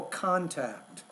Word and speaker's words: contact: Usually when we have nouns, the stress is on that first syllable, but in this case, it's physical contact. So that's a word stress issue.